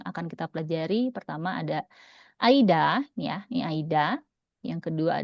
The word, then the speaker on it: 間: Ya, tapi dibacanya karena dia sendirian sekarang dia kita bacanya aida ya. Ya, ini dibacanya aida seperti ini.